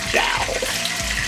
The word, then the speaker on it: jowl: Pronounced jowl.